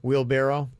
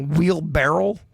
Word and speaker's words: wheelbarrow: do you say it wheelbarrow how do you say it wheel barrel it's not a barrel all right enough to